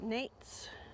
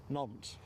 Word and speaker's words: Nantes: Now, how do you pronounce that? Nates? Oh, I've been trained by Sarah Louise on this one. Nantes. Nantes.